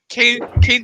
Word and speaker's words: Kaine: But yeah, Kane Parker sucks. His name's Kane, but it's spelled Kaine.